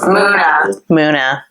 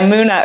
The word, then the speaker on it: MUNA: Hey, this is Billboard, and you should know us, Muna. I was listening to this song by Muna earlier, who's a band I've become obsessed with this year.